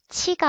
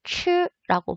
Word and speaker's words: 吃: 그래서 치가 아니고 추라고 발음을 해야 되고 중국어를 처음 배우는 사람들